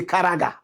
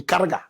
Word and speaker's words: Karaga: You say Karaga. Correct pronunciation. Caragga. Cara.